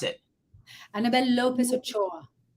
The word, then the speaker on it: Ochoa: annabelle lopez and i want to say it's pronounced ocoa am i correct annabelle no saying no okay hold on annabelle i tried some water how do you pronounce it annabelle lopez ochoa ochoa right because your call would be italiano ochoa